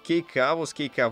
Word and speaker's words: Кейкавус: Но вот кейкавус, мне сказали, правильно читается, внезапно.